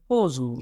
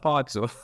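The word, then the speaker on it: Pozzo: Or While you're talking about this character, I was thinking I have heard people pronouncing this word Pozo. So, yes. what's that? Pozo is correct? Or No, it's more like pizza. It's a no? Otso.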